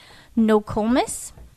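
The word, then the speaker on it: Nokomis: name too bad but I believe you pronounce it nois but it's n o k o m i s and we have a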